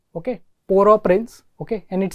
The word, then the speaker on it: Port-au-Prince: So this place, basically it is pronounced, it's a French word. Okay, Port-au-Prince.